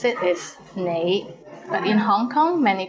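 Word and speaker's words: 你: is the word you the right way to pronounce it is nei but in hong kong many people pronounce it as lay how was it pretty interesting right do you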